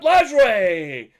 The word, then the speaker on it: Lajoie: AL Central, and a guy who I have pronounced his name incorrectly 875 times by my recollection. And it's Nat Lajoie.